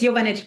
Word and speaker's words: Jovanovic: jovanic is am I spelling or am I pronouncing that correctly it's yanich but it's yanich okay cool uh she is